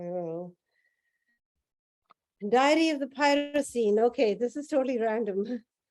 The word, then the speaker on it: Pyrocene: Diary of the Pyrocene, and pyro is spelled Pyro, and then scene as in scene, you know, like a scene of a movie.